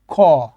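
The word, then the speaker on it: ㅋ: টাকে উল্টায় বসানো হয়েছে সেটাকে আমরা বাংলা উচ্চারণে খ ঠিক আছে খ লিখবো আমরা যখন রিডিং পড়বো এটাকে খ হিসেবে আমরা উচ্চারণ করব ওকে আচ্ছা এখানে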